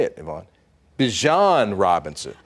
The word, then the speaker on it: Bijan: How you pronounce my name is Bijan. For everybody that's out there, I know a lot of people say Bijan, but it's Bijan. It's Bijan, yeah.